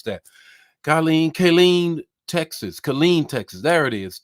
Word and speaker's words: Killeen: From Kayleen, tell me how to pronounce that. Killeen, Texas. There it is, Killeen, Texas.